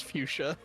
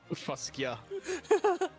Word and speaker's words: fuchsia: You don't want to know how I used to pronounce fuchsia. Fuskia.